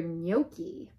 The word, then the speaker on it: gnocchi: speak fluent Spanish at home G it's for gnocchi the gnome yells waiter there's a bright white